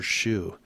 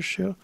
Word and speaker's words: Xu: from San San Francisco his name is master Shu and it's spelled XU in case you're listening hello master Shu little guy little guy from probably Chinatown and